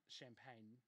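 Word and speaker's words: Champagnie: of justin champ pagne justin champagne auto shows pronounced champagne all right uh just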